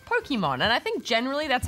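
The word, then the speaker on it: Pokémon: Pokemon is short for pocket monsters, so the correct pronunciation would emphasize the pock from pocket.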